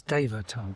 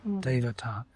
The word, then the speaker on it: Devata: Now, in the Vedic tradition, the word for law of nature is Devata. Devata. It's 3 syllables. De-va-ta.